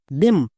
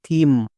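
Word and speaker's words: theme: টি এইচ ই এমই দেম একদমই ভুল এর উচ্চারণ দেম করা চলবে না এখানে টি এইচ এর জন্য থ হবে কেন এক্ষুনি বলছি এবার ই এর জন্য হসিকার কারণ ই ভিসিবি রুলে আছে লং সাউন্ড এম এম এর জন্য মু এবং শেষে ই আছে আমরা সবাই জানি শেষে ই থাকলে সেই সাইলেন্ট থাকে তাহলে এর উচ্চারণ কি হলো থিম এর উচ্চারণ কিন্তু দেম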